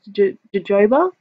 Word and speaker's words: jojoba: that deep cleanse I go in with this jojoba and that's how you pronounce it face oil I love this especially